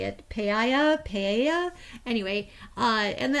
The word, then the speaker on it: paella: uh pay it how do you say it paella paella anyway uh and the other things too